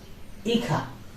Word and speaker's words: hija: Hija. Again, H. It will never be pronounced.